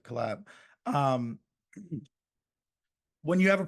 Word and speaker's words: Colaeb: just you know with the collab which c o l a EB that's what you know how we want to pronounce it collab um when you have